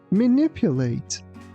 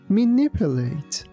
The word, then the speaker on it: manipulate: Manipulate. Manipulate.